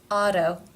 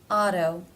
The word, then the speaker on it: auto: you hear a difference Auto a tone in the first word it is pronounced as a D and in the second word as a T why is that Auto a tone the reason